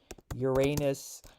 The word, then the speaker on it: Uranus: Uranus pronunciation.